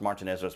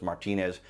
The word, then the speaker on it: Martinez: 1st a local martinez i think it's pronounced martinez martinez resident applied for a